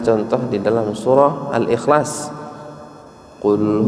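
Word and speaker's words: قل: di dalam surah al-ikhlas Qul huwallahu Ahad full Kita harusnya membacanya dengan of eh kita baca full cover maka jauh sekali artinya Bapak Ibu yang dimuliakan Allah kalau pun dengan covk maka artinya adalah Katakanlah tapi kalau full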